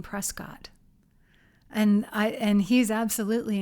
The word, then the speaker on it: Prescott: Somebody maybe Marshall Trimble wrote a book called They call it Prescuit spelled like Yeah. Interesting. Although my dad grew up saying Prescott and I and he's absolutely an Arizona native.